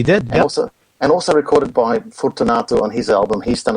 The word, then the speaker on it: Fortunato: is it Fortunato? Have I always been pronouncing it wrong, or am I just Americanizing it? Fortunato. I always hear Fortunato, so that's how he pronounced it. So that's the best way. Fortunato. Fortunato. I apologize. Italian would be Fortunato.